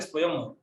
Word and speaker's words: स्वयं: संस्कृत शब्दों के अंत में जो अनुस्वार आता है उसका उच्चारण म होता है, जैसे स्वयं। स्वयं पे ऊपर हम लोग बिंदी लगा लेते हैं लेकिन पढ़ते स्वयं।